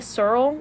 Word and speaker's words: S3RL: So, we're driving to Goodwill, and I remember we were listening to Searle, like, S3RL. I don't know if that's how you pronounce it. And I think everyone calls it Searle.